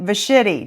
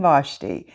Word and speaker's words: Vashti: today is queen vashti better known as queen vachetti no i'm just kidding that is a nickname that i was having trouble pronouncing her name and that's what kept coming to my mind but it is queen vashti without queen vashti we would have never had